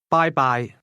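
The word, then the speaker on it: 拜拜: Bye-bye. Bye. Bye. Bye-bye. Bye-bye. That's pronounced with high and mid-level tones.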